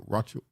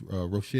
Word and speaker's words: New Rochelle: A 37-year-old man shot by police in New Rochelle. How you say that? I know how to say it. Is that I don't want to say Rothschild. It's Rochelle. Yeah, Rochelle.